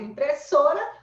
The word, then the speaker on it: impressora: palavra impressora, olha aí, quem é a sílaba mais forte, né? Impressora, impressora, impressora. Impressora, impressora, impressor. Tá vendo? Ó? Eu dobro a letra, estico a letra. Então lá eu tenho a sílaba mais forte, né? Ganhou! Ó, ganhou o troféu, Fortão. Você é uma palavra paroxítona.